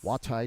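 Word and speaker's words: Juatai: WAHTIE, W-A-H-T-I-E, by the way, is the phonetic spelling of my last name, which is actually J-U-A-T-A-I. And everybody who reads it can't say it, so I spell it phonetically for my wood turning business.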